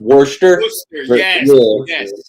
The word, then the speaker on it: Worcester: city which was the old capital of Massachusetts, Worcester, Massachusetts. That's Belarian's father was born. Huh. Interesting. I' I've been to I've been to War it's it's it's funny because it's spelled Warchester but it's pronounced Worster.